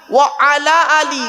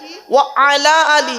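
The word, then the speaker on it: وعلى آل: মাওলানা মোহাম্মদ ওয়ালা আল ওয়ালা আল ওয়ালা আলে নয় ওয়ালা আলে নয় ওয়ালা আলী ওয়ালা আলে বললে নফির মানে হবে নেগেটিভের মানে হবে নাবাচকের মানে হবে উল্টে গুনাহ হবে আছেটা কি ওয়া আলা আলী উচ্চারণটা ঠিক করুন ওয়া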